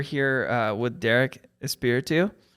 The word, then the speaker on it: Espiritu: this audio we're here uh with Derek is spiritu right how do we say it like I